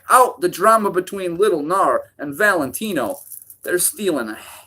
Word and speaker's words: Gnar: lower up-and-coming designer will gnar okay and his narcotic clothing line okay G an AR as in ganar okay silent G okay so that's a